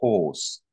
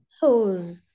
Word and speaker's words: horse: Donc il y a un R, mais il ne se prononce pas.